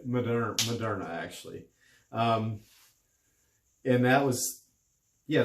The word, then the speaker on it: Moderna: That's how they say it here. Moderna actually.